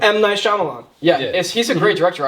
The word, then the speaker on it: Shyamalan: It's by, I don't know how to pronounce the director's name. M. Night Shyamalan. M. Night Shyamalan.